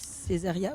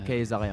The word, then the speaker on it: Caesaria: Ça aurait pu être Césaria aussi? C'est la prononciation latine, car ça D'accord. signifie la femme de César en latin. Ok. C'est la Kayseria en fait.